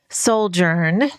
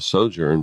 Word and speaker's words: sojourn: went on a monthlong souljourn and uh you said souljour I kind of like that it's actually called a sojourn but sojourn every word